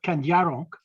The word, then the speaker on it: Kandiaronk: But the first one was, as you pronounced it, Kandiaronk.